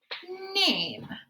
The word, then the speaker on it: name: So in this first word, we have n, a, and then the E is silent, right? So n, a, name. So the E was able to make the A make its long sound, and then it was silent.